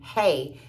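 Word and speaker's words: है: Hey. Like we say hey, but it's spelled H-E-I or H-A-I, depending on where you see it.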